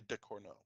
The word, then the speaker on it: Ducournau: Is that how you pronounce it? Yeah. Julia Ducournau.